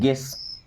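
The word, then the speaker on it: guess: क्या बोला था कि यू के बाद कोई भी वोवेल आएगा तो यू को नहीं पढ़ेंगे। अब देखिए क्या पढ़ रहे हैं? यू को छोड़ रहे हैं गेस।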